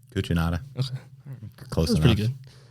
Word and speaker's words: Cucinotta: Did I pronounce it right? Cucinotta.